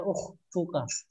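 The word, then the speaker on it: أختك: Ukhtuka, ini bacanya ukhtuka. Ada tambahan huruf kaf.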